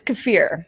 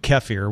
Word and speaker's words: kefir: was the whole time so it is gif fear its kefir yeah really uh-huh well I mean it depends on what accent you want to use but I think and I say I always find myself saying kaffir which is also wrong so everybody acts downswings